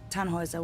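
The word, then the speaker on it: Tannhäuser: what's your name tanhauser we'd pronounce it tan Hooser with an German Roots yes my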